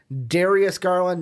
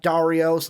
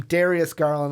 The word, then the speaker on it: Darius Garland: about the Culver and Darius garland not Dario's not Jarius how other names we've pronounced him Darius garland let's don't you think